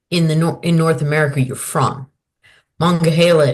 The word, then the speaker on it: Monongahela: Monongahela is pronounced by Monongahela by some people, but it's called Mong by others, and it's about manga by others.